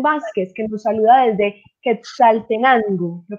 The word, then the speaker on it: Quetzaltenango: Voy a aprovechar por aquí para saludar tenemos a Edwin Vázquez, que nos saluda desde Quetzaltenango. ¿Lo pronuncio bien, Manuel? Sí, así es, Quetzaltenango.